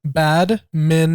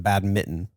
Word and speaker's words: badminton: yes badminton wait what bad Minon how is that different than bad Mitten because it's not a bad Mitten it's not a mitten that has holes in it wait is it have I been saying it wrong my entire life most people do you're not the only one it's bad Minon all right we've all